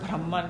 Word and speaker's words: Brahman: the word is Brahman so we should be all able to pronounce that word Brahman because not brahmaji Wala Brahma this is a Brahman means the highest form